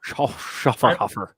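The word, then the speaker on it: Schöfferhofer: Schafferhofer. I'm so bad at pronouncing That's a the name of that brewery.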